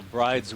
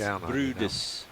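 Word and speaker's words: Bryde's: What I call bride's whale is pronounced Brudis whale. It's a Norwegian.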